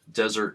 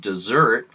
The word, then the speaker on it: Desert: way the name is traditionally pronounced desert like the last course of a meal similar to the French pronunciation does air although is